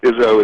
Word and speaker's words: Izso: You know what, the simplest pronunciation is, think of Coach Izzo Ova? from Michigan State, Uh-huh. and that is the easiest way to pronounce it. So Izzo is great, but my